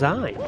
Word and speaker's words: Zion: told by upper management zion's name was pronounced zein and it rhymes with wine and the top six